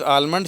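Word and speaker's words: almond: होती है इट इज आलमंड shape आलमंड कहते हैं बादाम को वैसे यह आलमंड मैं इसलिए पढ़ रहा हूं आप स्पेलिंग गलत ना करो वैसे लफ्ज आर्म्ड होता है यह एल इसमें साइलेंट होता है तो यह बादाम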